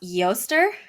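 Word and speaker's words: Eostre: to look this up it's pronounced yoester but it's spelled e-o-s-t-r-e with like like above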